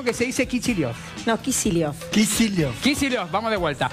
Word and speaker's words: Kicillof: No, Kicillof. Kicillof. Kicillof, vamos de vuelta. Dale. Alberto Fernández y Axel Kicillof.